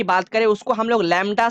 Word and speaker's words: lambda: Wavelength की बात करें, उसको हम लोग लैम्डा से रिप्रेजेंट करते हैं।